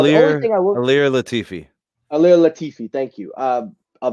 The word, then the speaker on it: Ilir Latifi: First up, Derek Lewis is taking on a brand new heavyweight, Ilir Latif, if I'm saying it right. Now, the only thing I will... Ilir Latifi.